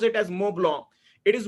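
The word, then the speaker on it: Montblanc: right it is moong a lot of people pronounce it as mon blank but uh the you know uh it is actually a brand from Italy and they pronounce it as moblo it is moblo 149 now just imagine know around you know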